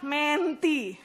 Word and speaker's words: mentee: maupun skill terhadap seorang menti namanya bacanya mente ya bukannya mentee eh ya bacanya menti mimpi itu adalah murid